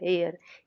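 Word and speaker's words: heir: Silent है। हेयर एयर ई से start हो रहा है हमारा सेंटेंस।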